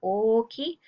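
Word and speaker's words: おおきい: They do stay the same when we say chisai and oki. That's how we pronounce the words.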